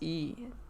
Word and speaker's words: Mayu: My name is My name My name is Mayu is E is pronounced E.